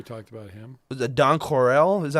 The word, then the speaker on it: Don Coryell: Was it Don Corell? Is that how you say his name? Don Coryell.